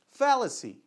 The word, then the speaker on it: fallacy: Então, ó, inclusive a sílaba forte tá no mesmo lugar que em português, né? Falácia. Ou é falácia? Falácia. Não, não tá não, desculpa. Né? Então, olha lá, mudou um pouquinho.